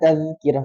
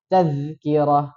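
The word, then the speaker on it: تَذْكِرَة: Kalla innaha tazkirah. Tadi seperti itu. Yang betul apa? Panjang karena ada huruf mad. Ya, betul. Kita baca kalla innaha tazkirah. Tazkirah. Nah, posisikan lidahnya. Tazki. Jadi jangan kezai.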